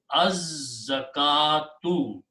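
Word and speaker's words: الزكاة: Same thing, za will kill the sound of lam and will make its own sound twice. So it becomes az-zakatu. Az-zakatu.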